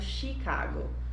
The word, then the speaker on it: Chicago: kibon no inglês mas sabemos que o ch é pronunciado como chené mas no nome chicago é uma tal plano de origem francesa e é por isso que é pronunciado chicago como se fosse o sh então é um erro